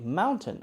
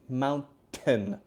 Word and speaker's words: mountain: is pronounced so if if T comes after n then we usually are going to say it like mint we have to say mint with it sound very clearly mountain mountain mountain mountain mountain